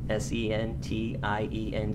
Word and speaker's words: sentient: It's called sentient, S-E-N-T-I-E-N-T. It can also be pronounced sentient.